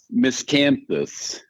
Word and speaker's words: Miscanthus: Miscanthus.